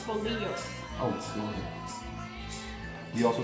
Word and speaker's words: bolillos: Anyways, you take these white Bollios buns that they got at HEB. Wait, let's not forget to show Blake's beer, too. Take the white Bullios buns that I had to be told how